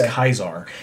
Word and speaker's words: Caesar: happen right I think the correct way to say Caesar in like that old-timey Roman thing is hyzaar and I think Marcus like